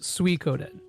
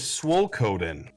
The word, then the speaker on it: Suikoden: It is pronounced Suikoden. I thought it was Swolkoden.